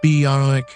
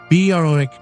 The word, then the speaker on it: Berwick: Berwick, not Berwick. The W is silent, sits on the wrong side of a river.